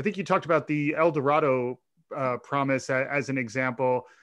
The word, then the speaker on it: El Dorado: is that even though it sounds strange in El Dorado they actually pronounce it eloro took me a long time to get used